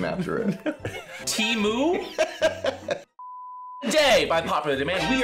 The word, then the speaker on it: Temu: it is called Daddy I want you to pronounce that Teemu wow you actually pronounced it right did I